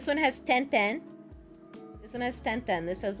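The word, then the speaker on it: は: Because sometimes you pronounce ha as wa.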